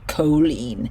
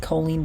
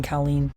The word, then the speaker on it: Colleen: that her name is pronounced colen like Jolene colen Ballinger I don't care saying Colleen here again in the